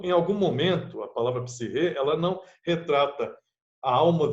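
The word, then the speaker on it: ψυχή: palavra psique, né, ou psirre, que é a melhor tradução, né? Aliás, a melhor forma de pronunciar o termo psique é psirre, na verdade.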